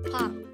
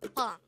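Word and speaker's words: 빵: Korean term for bread is pang. Again, it's pang. This is composed of just one syllable, which is pang itself.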